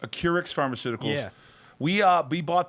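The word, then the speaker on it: Acurx: uh of ac xp how do you say the name it's a keurix a keurix pharmaceuticals we uh we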